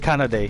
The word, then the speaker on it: Kanade: I feel like I'll always say his name wrong. Kanade? Is that it? Kanade, yeah.